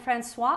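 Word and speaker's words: François: all the way from france owners cecile and francois attar are the owners of a new store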